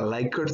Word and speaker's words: Likert: a lot is called a Likert scale like hurt spelled like this sort